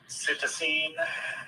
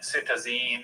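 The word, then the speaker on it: cytisine: There are three variants. There's citine, citizenine, and citizen.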